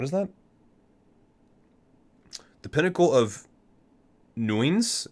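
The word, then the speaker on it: Nuign's: the pinnacle of nuins it's n-u-i-g-n apostrophe s i'm not even sure how you're supposed to pronounce that i'll i'll just say the pinnacle of new ends because i'm assuming the g is silent nuin's uh investigations into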